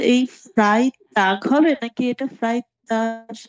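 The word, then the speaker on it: Freitag: কিন্তু যদি লাস্টে জি থাকে, সিঙ্গেল থাকে, তাহলে এটা আমরা কি গে এর মতো উচ্চারণ করবো, ফ্রাই টাগ।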